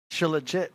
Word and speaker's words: Shilajit: Am I pronouncing that right, AD? Shilajit? Shilajit.